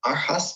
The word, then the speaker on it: Aarhus: From Charles University in Czech Republic, and a degree in environmental studies as well, and the University of Aarhus in Denmark. Did I pronounce that correctly?